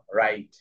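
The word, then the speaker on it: write: আই এর long sound I, আর টি এর sound ঠ। র, আই, ঠ, রাইট। তো এভাবে হয়েছে রাইট। ঠিক আছে? এখানে কিন্তু ডাবল ইউ সাইলেন্ট হয়ে গেছে।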